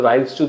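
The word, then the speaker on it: Ryle's tube: Unconscious সেমিকনশিয়াস, তাদের তো রাইলস টিউব দিয়ে খাওয়াতে হয়। ফলে রাইলস টিউব কথাটা অনেক সময় আমরা উচ্চারণে ভুল করি, রাইলস টিউব আমাদের ধারণা থাকে ভাত ঢোকানো হয়, না, রাইলস টিউব, RYLE', রাইলস টিউব।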